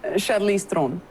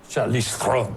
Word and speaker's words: Charlize Theron: Do you actually pronounce your name? Charlize Theron. I much prefer that. That's so much sexier. Say that again. Charlize Theron. Charlize Theron.